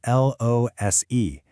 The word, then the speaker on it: lose: The verb we're talking about is L-O-S-E, and it's pronounced with a Z sound, lose.